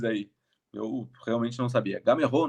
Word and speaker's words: Gameiro: Ó, outra pronúncia errado, Carlão é o gênio dos dos nomes aí. Eu realmente não sabia. Gamerrô o nome dele. Gamerrô. A gente chama brasileiro, chama de gameiro, mas é o Gamerrô.